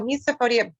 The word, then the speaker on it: misophonia: Can you teach us, enlighten us, because I myself didn't even know about this, misophonia? Am I pronouncing it right?